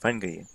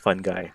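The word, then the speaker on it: fungi: of a scrub it's a moist plank covered fungry you try to move it with a stick and a gloved hand I know it's pronounced fun guy but I like it my way after a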